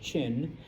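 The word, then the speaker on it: Qin: Now there is one group and once again I know it's spelled with a Q and I apologize. It's pronounced Chin.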